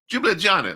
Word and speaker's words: Ljubljana: It's Ljubljana. So Ljubljana, like a mint jubilee, mint jubilee, whatever that drink is that they drink at the horse races. Mint jubilee.